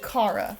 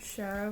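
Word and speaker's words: Kara: is, even though it's also supposed to be Cara. I I always said Shara when I was little because it made sense to my you know, phonetically speaking, Shara would be appropriate.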